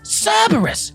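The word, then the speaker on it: CRBR-S: is called crbr dashes if you pronounce that out loud it's cerberus a reference to the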